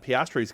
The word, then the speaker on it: Piastri: On the same weekend that there's the rumors that Piastri's going to be announced as one of their drivers next year.